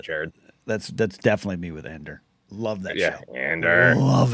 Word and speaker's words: Andor: I just said, I've just pronounced Andor like Luthen does.